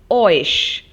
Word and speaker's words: euch: Please notice the pronunciation, it's ओइश.